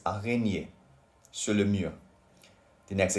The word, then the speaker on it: araignée: Then we have il y a une araignée sur le mur.